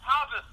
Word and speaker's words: Habas: Is it Habas or Habas? Did I say it right? It's Habas.